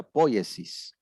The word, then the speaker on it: poiesis: se produce apoyes y se escribe poesía pero se pronuncia poiesis que significa creación invento